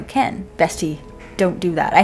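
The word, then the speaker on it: Kehn: I think his third book, he goes Kane. And I was like, is it Ken or is it Kane? How is this spelled? It's spelled K-E-H-N. So Ken.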